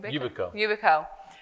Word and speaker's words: Yubico: How do you say it? Yubico. And it comes from the word ubiquitous.